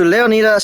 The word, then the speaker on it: Leonida: I'm pronouncing it how the Greeks pronounced it, because that word is Greek. Welcome to Leonida State.